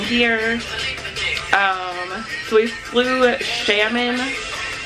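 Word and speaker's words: Xiamen: i are staying here um so we flew salmon it's spelled x x i a m e n and uh we have a layover in shaman china because we're going to thailand so our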